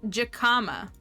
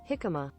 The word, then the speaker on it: jicama: jacama this says jakama but Jay's a funky a funky letter in Spanish so this says jakama jacama that's the British pronunciation what is the um the American pronunciation jicama jicama jicama not the